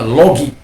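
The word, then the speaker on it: λόγοι: Misalnya logos, maka menjadi logoi, ya, sebenarnya logoi, tapi bacanya logi.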